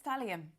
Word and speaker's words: thallium: It's Talyum, okay, Abby. evet, talyum, kolonya. Whatever happens, happens. Just choose, Şunu ver. please. Yazışı böyle okunuşu hoşuma gitti. It's thallium.